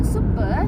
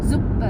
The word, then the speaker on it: Suppe: Nah, jadi kalau huruf S di setiap awal suku kata itu dia dibacanya tuh bukan sebagai S, tapi dia dibacanya Z. Jadinya misalnya super. Jadi bukan suppe, ini sup, bukan suppe,